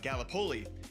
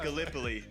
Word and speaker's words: Gallipoli: right because being from Iowa, I said uh Galipoli and it's it is pronounced Gallipoli.